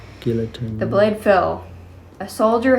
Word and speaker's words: guillotine: guillotine.